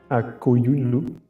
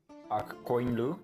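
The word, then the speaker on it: Akkoyunlu: Akoyunlu. Just the white sheep. I thought it was like Akkoinlu, because I don't think you actually pronounce that first U. So I always think it's pronounced like Akkoinlu.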